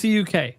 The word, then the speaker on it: CUK: CUK. It's CUK. That's how you pronounce it.